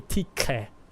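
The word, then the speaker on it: Tiche: So probably TK. That would be how that would be pronounced in ancient Greek.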